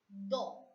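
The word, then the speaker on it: dos: Because in French, we have a rule that the last consonant which is appearing after the vowel remains silent.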